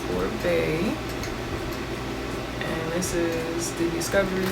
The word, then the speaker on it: Oribe: So, um, it is pronounced Orbee and this is the Discovery set.